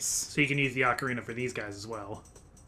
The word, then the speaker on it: ocarina: So, you pronounce it Ocarina or Ocarina? I usually say ocarina, but technically either pronunciation is correct. I usually pronounce it ocarina like the Macarena.